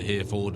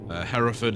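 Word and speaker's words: Hereford: So yeah, it's just interesting cuz like I said, there's a place there Heraford. I mean, I'm sure sure you American folks probably pronounce it here, Ford or something like that, but Heraford is how we we pronounce it in in our country.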